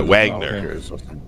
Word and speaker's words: Wagner: that song right by wagner right now i'm first learned how to pronounce my w's that i see them and in the german style which is a v like va uh was when i